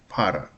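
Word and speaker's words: пара: Para Para is pair, actually. Ordered pair. Um para para para Second Let's Second syllable is stressed.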